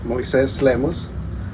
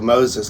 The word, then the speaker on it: Moises Lemus: My name's um Moes Lemos. I guess I have to pronounce it properly so people um normally we have to tell people Moses because it's a lot easier to not explain every time.